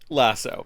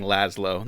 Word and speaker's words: Lasso: ] his name is lasso lasso it's funny i have a friend that just keeps saying laszlo they can't pronounce lasso for some reason well